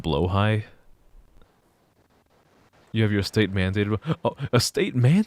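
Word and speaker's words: Blåhaj: think it's SP like b l a h AJ and one of the A's has like the little circle on it and everyone thinks it's pronounced blahaj but it's pronounced blo High you have your estate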